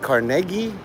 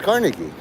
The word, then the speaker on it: Carnegie: And hearing those three talk and they're like, I realize they know how to pronounce Carnegie Melon University. Some people say it cargi, but it's Carnegie.